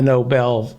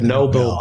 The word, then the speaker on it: Nobel: the uh the the noble prize it's pronounced the noble noble pride the nobel prize right the nobel prize